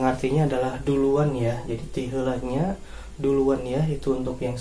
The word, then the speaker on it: tiheulanya: Langsung saja ya, ungkapan praktis pertama yaitu adalah ungkapan tiheulanya. Tiheulanya, cara bacanya tiheulanya.